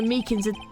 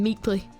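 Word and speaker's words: Meekins: Actually, Officer Meakans Oh, actually, Officer Meakans at the detention center told us. Ah, that poor little doggy. Poor guy. I keep getting his name wrong and calling him Meekly.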